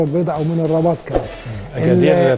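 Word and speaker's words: أكادير: اكادير طبعا كما تنطق بالمغربيه، الكابتن طارق بيدينا النطق الصحيح، وطبعا اخواتنا في المغرب بيقولوها طنجة وليس احنا في مصر بنقول اغادير يعني.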